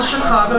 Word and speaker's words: Chicago: I'm a native by how I pronounce the name of the city Chicago not Chicago not Chicago you recognize the natives by how they say Chicago the soft seed of the awesome a as in Chicago is awesome mission was